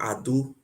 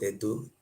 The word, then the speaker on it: Edo: Edo, the right pronunciation is called Ado. A-D-O. Ado is not Edo.